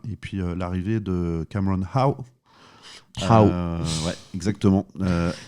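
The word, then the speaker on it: Hough: puis l'arrivée de Cameron Howe. Ouais, exactement. H-O-U-G-H, qui se prononce Howe, qui sera peut-être qualifié pour le match de samedi prochain, mais aucune garantie encore maintenant.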